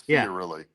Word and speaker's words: Fiorilli: Like you were pronouncing it florally. There's no L in the beginning. It's Fiorilli.